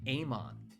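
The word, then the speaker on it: AMOK: Ammon, the K is silent.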